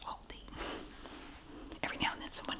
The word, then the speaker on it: Aldi: tab now I know in some countries you pronounce it Aldi I know but in the USA it is pronounced Aldi I did confirm it with the company that in America it's pronounced Aldi every now and then someone has to it